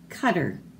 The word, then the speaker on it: Qatar: And this word here is pronounced Qatar. It's a country.